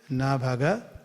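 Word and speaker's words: Nābhāga: So father is nabhaga, son is nabhaga. You see this pronunciation na bhaga.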